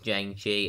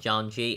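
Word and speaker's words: Shang-Chi: rest of the video honestly i've always called him zhang chi it's a bad habit i didn't know um pronounced janji until i saw the movie so for that you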